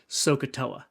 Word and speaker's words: SOHCAHTOA: And you can imagine, using this, and you would pronounce this SOHCAHTOA.